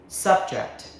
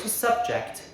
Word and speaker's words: subject: as a noun, a topic like math or science. First syllable subject. Subject. English is my favorite subject as a verb to force someone to experience something. Second syllable subject.